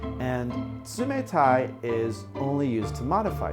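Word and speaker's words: 冷たい: Samantha it means cold the Sioux Mora is one of the hardest for English speakers to pronounce it exists in English but not as an actual letter and tsumetai is only used to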